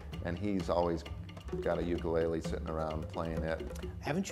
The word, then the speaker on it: ukulele: The Hawaiian correct pronunciation is ukulele. Put a little apostrophe in front of the U for that sound.